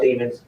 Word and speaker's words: Demons: The text was, Jamel Demons, go lay down. I love you, all in capitals. And remember, demons like rhymes with lemons.